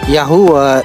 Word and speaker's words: Yahuah: lahat ang tunay at tamang pagbigkas sa pangalan ng Diyos the sacred tetragrammaton is the Almighty creator's name yahuah is word that comes from the